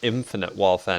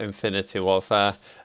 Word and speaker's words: Infinite Warfare: bad thing, and just said it is Infinite Warfare, not Infinity Warfare.